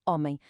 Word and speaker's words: homem: A letra G em português, quando aparece no início de uma palavra, é muito tímida. Tão tímida que, na verdade, ela é completamente muda, silenciosa. Ela existe na escrita, está lá para a vermos, mas na fala desaparece por completo. Por isso, a palavra homem soa como homem. A palavra ora soa como ora.